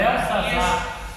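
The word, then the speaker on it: Beltessazar: O meu aqui na minha Bíblia colocaram um T no meio aqui. Não, tem um texto, só que não é pronunciado.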